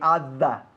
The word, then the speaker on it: other: Every other, ¿ok? Other se escribe other, pero no se pronuncia así. Se dice other. Hay que bajar la mandíbula, ¿ok?